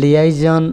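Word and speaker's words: liaison: তো আমরা জানি যে লিয়াইজন স্পেলিং হচ্ছে এল আই এ আই এস ও এন, এটাকে লিয়াইজনও উচ্চারণ করা হয়, যার অর্থ হচ্ছে দুই পক্ষের সংযোগ স্থাপন করা বা যোগাযোগ।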